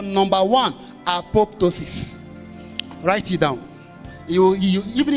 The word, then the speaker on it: apoptosis: we call number one, apoptosis. Write it down. You even if you learn all this, that's what you get for coming here today. Right as it's pronounced. Apop. Put A in front of pop.